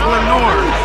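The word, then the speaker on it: Lenoir: not Len oh he's giving me how to pronounce it too you said it WR how do you say it it's Lenor deodor Lenor dador bomb this is a DB for the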